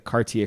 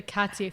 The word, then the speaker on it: Cartier: The Cartier family. Cartier not family. Cartier. I say it wrong every time.